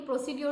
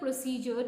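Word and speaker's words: procedure: আমি হুরিবো লিখবো যে প্রসিডিউর টু কি কিন্তু প্রসিডিউর টু আসলেটে সঠিক উচ্চারণ না হয় আজ উচ্চারণটা কারেক্ট করি ডি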